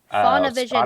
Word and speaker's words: Faunavision: yeah, Faunavision. Now Spotify. spell it for us.